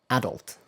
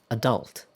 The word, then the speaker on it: adult: British English usually places the stress on the first syllable on this word, and American English, however, often places the stress on the second syllable.